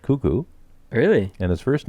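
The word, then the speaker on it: Koekkoek: k k OE k I don't know it's pronounced kuku really and his first name is Slater that later kuku that's incredible Nate got a goal for Tampa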